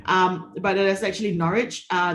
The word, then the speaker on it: Norwich: word here is not norch which a lot of people are doing so um but it is actually Norwich uh there's no W in that pronunciation so it's NCH um